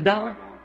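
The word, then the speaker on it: Daugh: C'est un allemand et à vrai dire son nom c'est D A U G H mais moi je le prononce simplement D.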